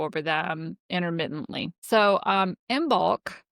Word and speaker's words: Imbolc: So, um, imbulk and that is how I pronounce it. There are a ton of other ways to pronounce it. I've always pronounced the M and the B. Imbulk. Actually, they're kind of more like the M and the B are together.